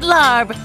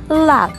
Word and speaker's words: larb: I'll take the maggot larb. Did I say that right? Larb? It's actually pronounced lab.